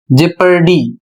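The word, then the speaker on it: jeopardy: यहां पर आगे लिखा है और ओ साइलेंट हो जाता है।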